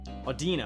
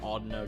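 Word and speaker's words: Audino: how to pronounce it I've always pronounced it Odo just cuz it sounds like audio with a no in it but you know what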